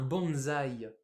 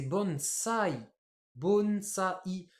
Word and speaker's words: bonsaï: un pot là nous on appelle ça un bonsaï mais en japonais c'est bon ça I et ouais donc ce